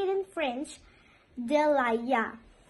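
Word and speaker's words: de l'ail: We say it in French, delaya, delaya. If you do not want to say some and you want to say garlic, so you will say laya, laya, or you can say delaya.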